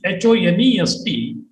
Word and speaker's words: honest: Actually, the word honest, H-O-N-E-S-T, begins with H, which is a consonant as far as the spelling is concerned. But when you pronounce it, the pronunciation of this word begins with O, honest.